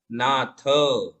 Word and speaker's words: नाथ: नाथ में थ थाली वाला है तो उसका ही उच्चारण होगा, त तलवार वाला अलग है और थ थाली वाला अलग है। नाथ, है ना।